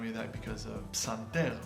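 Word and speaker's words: פסנתר: Psanter. Speaking of clusters, we got our first one here. Psan. Psan. You gotta say the P.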